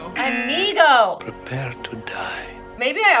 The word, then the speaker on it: Inigo: Inigo. Inigo!